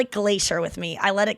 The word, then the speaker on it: Glaser: I know, but it's Glacier with me.